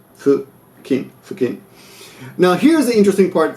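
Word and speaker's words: 付近: Now look, notice that fukin, so it looks like fucking, but it's not pronounced fucking. It's pronounced fukin.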